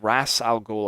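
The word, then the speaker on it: Ra's al Ghul: of raw's algol and they pronounce it like rassal goal i believe in the game or something i'm i'm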